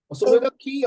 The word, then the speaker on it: soliloquy: Soliloquy or soliloquy? It's pronounced soliloquy.